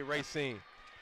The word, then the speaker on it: Racine: pronounced my son is Racine but if you're from there like myself and DeAngelo you say racing they seem case product